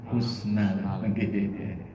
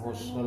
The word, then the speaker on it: husnul: ya saya salah pangapunten ini harusnya husnal tapi kebanyakan Husnul ya Iya kebanyakan bacanya Husnul di sujud terakhir itu